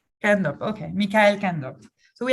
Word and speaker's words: Kaandorp: It's Mikael Kaandorp. Kaandorp, okay, Mikael Kaandorp.